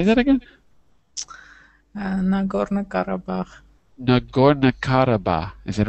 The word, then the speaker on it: Nagorno-Karabakh: How do you pronounce that? Say that again. Nagorno-Karabakh.